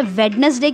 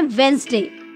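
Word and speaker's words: Wednesday: हैं वेनसडे व्यक्ति अब आप सोच रहे होंगे कि वे कहते हैं वेडनेसडे क्यों कहते हैं जो यहां पर जो दी है यह वाला यह कैसा है साइलेंट है ठीक है तो बोलते समय इसकी आवाज नहीं आती है इसीलिए हम इसे पढ़ते हैं वेनसडे ओके खान नेक्स्ट है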